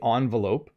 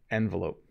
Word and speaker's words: envelope: with me here because i say this word two ways sometimes i say envelope and sometimes i say envelope okay i'm not sure which is the american pronunciation and which is the british pronunciation but i could very